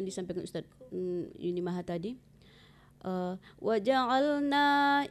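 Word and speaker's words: وَجَعَلْنَا: Kemudian seperti yang disampaikan Ustaz Yuni Maha tadi, waja'alna itu jangan dipanjangkan, dia langsung tasdid ke nun ya.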